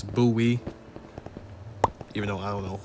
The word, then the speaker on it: Bowie: It's pronounced Buoie. Yeah, at first I thought it was Bowie because the way it looked, but no, it's Buoy.